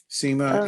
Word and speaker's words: Seema: Services District Five and SEMA if I've mispronounced your name please correct me Seema if they're unmute please I am the floor is you yeah you pronounced it thank you so my